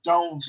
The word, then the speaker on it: Dones: But the American pronunciation that my family uses is Dones, like Jones.